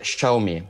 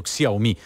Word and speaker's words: Xiaomi: e come si pronuncia allora si dice schumi ecco che potrebbe non essere una pronuncia cento per cento perfetta in cinese ma diciamo che in italia funziona quindi noi abbiamo sbagliato anzi io ho sbagliato però detto xiaomi quindi io ho pronunciato con l'aics mentre uno show mi vedete che si impara sempre